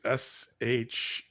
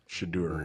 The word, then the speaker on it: Shedeur: Spell that. The Shadur show? Yeah. I think it's Shedeur. Shadur.